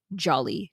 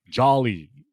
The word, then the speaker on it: Jolly: also discussed Julie so they also pronounce it a little bit different it's not like Jolly like it's not a big o sound so I was trying